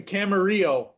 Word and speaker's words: Camarillo: alex portillo and i live in camarillo it rhymes it's in california but you